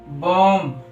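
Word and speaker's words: bomb: था टी से पहले बी साइलेंट होता है मतलब एम के बाद तथा टी से पहले भी जो होता है व साइलेंट होता है हमने कुछ एग्जांपल लिए हैं वो देखते हैं जैसे कोम बम थम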